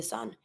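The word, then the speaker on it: fils: sun in this one it's the L the letter L that we're not going to be pronouncing so you're going to avoid the L but you're going to be pronouncing the S and then then the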